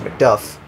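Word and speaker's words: Macduff: I live here in MCD Scotland it's actually pronounced McDuff but MCD is kind of cool oh wolf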